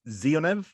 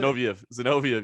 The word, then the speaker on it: Zinoviev: Is it Zionev? Is that how you pronounce it? Zinoviev. Yeah, it was a big slam, knockout, scary finish, man.